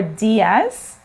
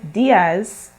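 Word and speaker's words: días: eye for spanish words when you see that accent you have to stress on the sound so for the i you say so instead of saying diaz you say diaz so good morning is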